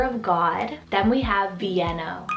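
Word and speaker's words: Vieno: means the thunder of god then we have vienno spelt v-i-e-n-o vienno and this one's derived from the capital of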